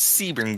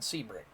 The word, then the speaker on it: Sebring: No, it's Sebring, buddy. You are Gary. You can say what you want. You are ostensibly wrong. It is called Sebring.